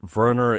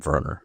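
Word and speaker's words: Werner: Anytime you have someone who's And I realize that Verer is probably the German pronunciation of W E R N E R. Mhm. That Verer as in like Dr. Verer Velro.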